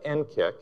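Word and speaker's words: NCCIC: cyber security and Communications integration center now we pronounce that n KCK and I normally don't like acronyms and you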